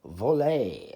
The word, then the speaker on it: Vole: looking at how to play the game of volley and that's how it is pronounced it is a game by Hoyle that